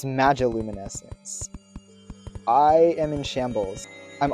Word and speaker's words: magiluminescence: I've been calling it the magnoluminescence for the longest time, and it wasn't until I rewatched episode 4 after uploading it that I realized it's spelled magiluminescence. There's no N.